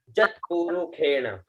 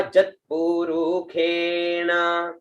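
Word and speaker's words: यत्पुरुषेण: जत पुरुखेण, प्रथम शब्द है ज, आधा त, पु रु खे और न। इसको ख का उच्चारण करेंगे, ठीक है, खे और न, ठीक है। तो हुआ जत पुरुखेण, ठीक है, जत पुरुखेण।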